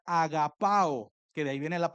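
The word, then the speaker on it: ἀγαπάω: La palabra en griego para ama, cuando dice Dios ama, eh, esa palabra en griego se pronuncia agapao, que de ahí viene la palabra ágape, que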